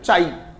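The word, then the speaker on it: chi: इज़ रेड एज चाई चाय नहीं चाय नहीं चाई अरे जैसे फाई होता है स होता है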